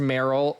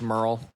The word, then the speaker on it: Merill: it's yes it's pronounced Merill um he is a man so just to clarify for everyone a a man thank you um often mispronounced Merl it's not Merl and um I am